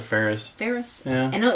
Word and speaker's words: Faris: I listened to Anna Faris. Anna Faris. Ferris. I pronounce it Ferris.